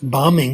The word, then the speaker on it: bombing: It turns out if there's a B at the end of a word and it comes after M, it's not pronounced, but there are exceptions. Like bombing, it's not pronounced, but bombardier it is. It depends on the nature of the suffix.